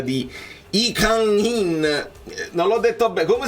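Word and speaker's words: Lee Kang-in: Tra l'altro ho studiato la pronuncia di I Kang-in, non l'ho detto bene, come si dice? I Kang-in, perché Lee Kang non si dice Kang in Lee, non si dice Lee, si dice I, ma poi ne parleremo.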